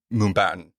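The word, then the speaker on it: Mumbattan: how you say it it's Mumbai and Manhattan yeah okay yeah I keep wanting to say Mumbai but I'm like no put baton at the end of it but it's hard to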